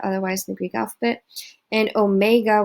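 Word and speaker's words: ω: the greek alphabet and omega which is the long o sound they use w because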